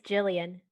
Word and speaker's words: Gillian: Yeah, it's spelled with a G, but you say it Jillian with a soft.